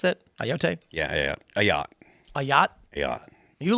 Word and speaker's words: Ayotte: 22-year-old man charged with threatening to kill New Hampshire Governor Kelly Ayotte. How do you pronounce that? Ayotte?